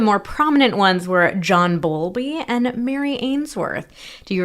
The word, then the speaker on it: Bowlby: There were a lot of different researchers who worked on attachment theory, but some of the more prominent ones were John Bowlby and Mary Ainsworth.